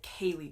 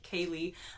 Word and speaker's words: ceilidh: Now, if you had written down the word ceilidh and then asked me to say it, I certainly wouldn't be pronouncing it correctly like I am now because it doesn't look like ceilidh, but that is how it's spelled, and it's basically a